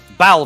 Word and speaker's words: Balverine: Balverine. Yeah. Balverines. Boy, I pronounced right.